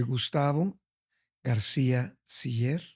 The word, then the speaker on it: Gustavo García-Siller: Bueno, desde mi nombre, porque hay gente que lo pronuncia diferente. Okay. Soy Gustavo García Siller.